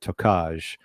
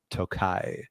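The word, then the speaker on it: Tokaj: and I did I did look up the pronunciation of this I used to always say toai but it's t o k AJ and it is apparently pronounced toai so the zlin hills surround the toai region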